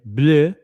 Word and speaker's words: Bleu: Pajorn Chronometre Bleu, and that's how you pronounce it, by the way, Bleu, listed for $189,000.